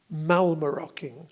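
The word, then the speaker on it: mallemaroking: brilliance of the English language is the word malmö rocking it's spelt ma ll e ma r okay ing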